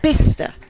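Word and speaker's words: Bicester: There are some absolutely ridiculous pronunciations in this country that don't half do my head in uh like bister. Yeah, bister it makes sense. Well, that's just ridiculous, frankly.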